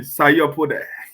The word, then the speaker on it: Sayopode: All right, I want you to pronounce that name, Sayopode. Don't say the white people way, say the real African way, Sayopode.